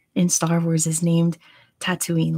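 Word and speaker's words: Tataouine: no there we go it's spelled like that but it's pronounced tatooine and then the planet in star wars is named tatooine like how calm spelled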